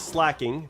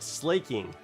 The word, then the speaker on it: Slaking: Um and I like it, but I I've always said slacking because, you know, that's probably what it's called. You know, probably how it how it's said. But I've been hearing uh Pimp Knight call it slaking.